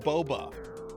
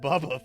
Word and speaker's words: Boba: No, it's supposed to be pronounced Boba. Like Boba Tea, Boba Fett, not Bubba Fett.